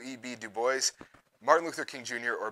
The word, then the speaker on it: Du Bois: yes the answer is the man with a French last name who decided to throw that French pronunciation out the window he went with Du Bois as the pronunciation and 1049 of you